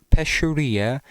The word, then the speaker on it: pescheria: The I think it's pronounced uh pesuria in Italian, which means fishmonger, which uh the person there is.